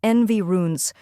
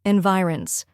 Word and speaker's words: environs: with I then comes runes which sounds like runs or you can say ronze rhyming with bronze both pronunciations are correct